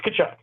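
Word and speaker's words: Tkachuk: The T is silent. It's Kachuk.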